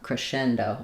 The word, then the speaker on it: crescendo: So, we have um stresses on the shen syllable. That s says the sh sound and the c is silent. Um the o does say o at the end. And then this is more of a schwah rather than c. Um like in crest it's a c crescendo or a c crescendo.